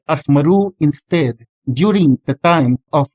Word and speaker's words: Marwah: But just like Hebrew, vowels and vowel markings were not written in the Quran, so that while Marwah is the common pronunciation nowadays, it could have been pronounced as Maru instead during the time of Muhammad, just like its Hebrew counterpart.